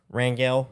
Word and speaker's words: Rangel: game by Garrett Rangel is that how you pronounced his last name Rangel yep okay uh yeah he came